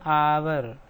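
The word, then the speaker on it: hour: यस, उच्चारण पे ध्यान दें, आवर।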